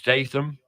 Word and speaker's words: Statham: but we're talking to Carol gladio t St Stam I said it right yeah uh tan Stam